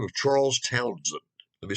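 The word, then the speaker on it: Townshend: the name of charles townsend let me spell that one for you t-o-w-n-s-h-e-n-d now it looks like it should be town shin right no it's not it's townsend townsend was prime minister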